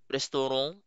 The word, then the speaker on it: restaurant: So sa French again this one is pronounced as restorong sa English that's restaurant sa Tagalog I think that's restaurant so we Joden or restaurant sesuar uh Dean.